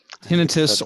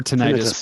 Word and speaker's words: tinnitus: uh that it was tinnitus is that how it's pronounced tinnitus or tinnitus both are valid I've had it for